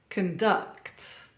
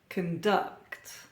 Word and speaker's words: conduct: 90s good times now you may have noticed a pattern here stress or emphasis on the second syllable uh and we have a verb produce produce contest contest Converse Converse conduct conduct object object object console